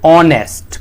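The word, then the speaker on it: honest: तो हम देखो इसमें देखें तो एच जो है वह साइलेंट है। एच साइलेंट है तो इसको कैसे पढ़ेंगे? ऑनेस्ट। कुछ इस तरह से पढ़ेंगे।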